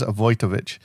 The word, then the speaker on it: Wojtowicz: So I he actually did his homework and it is avoich but he was a Vietnam veteran whose desperate attempt to help the person he loved would end in tragedy.